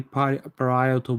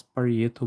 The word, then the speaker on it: parietal: Okay, and this bone is called the parietal bone. I usually pronounce parietal bone, but it's actually parietal bone.